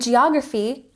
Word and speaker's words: geography: And geography has the emphasis on the second syllable. Geography, geography. Next we have history with emphasis on the first syllable.